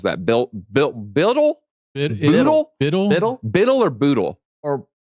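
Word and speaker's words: BUIDL: Biddle or Boodle? Or it's Biddle. Boodle. Well, so it's hold, and we say HODL. So Biddle. It's got to be Biddle.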